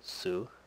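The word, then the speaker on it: つ: method in most cases the next sound is the u sound so TSU the next sound is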